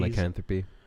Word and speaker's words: lycanthropy: type of deal, where he believed he had lycanthropy, I can never pronounce this disease. Lycanthropy.